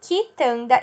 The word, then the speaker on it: quitanda: Mesma coisa com o Q e o U. Ele pode não ter o U pronunciado quando é acompanhado de I e de E. Como, por exemplo, quitanda e quente.